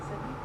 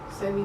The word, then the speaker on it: Sebi: Sebi? Yes. Okay. Sebi.